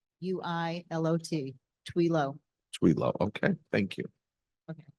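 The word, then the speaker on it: Thuilot: Tell me your last name. Pronounced Twilo. Twila. T, Twilo. spell it T. T-H-U-I-L-O-T. Twilo.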